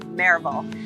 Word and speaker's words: Maryville: add a vole on the end of it marable i need you to know this this is